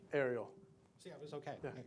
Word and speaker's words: Aireal: So I have to ask one more time for the record, how do you pronounce it correctly? Aireal.